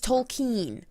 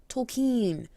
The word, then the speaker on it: Tolkien: believe for tolkien's children by the way it's tolkien tolkien if i hear anybody pronounce it tolkien i will punch you in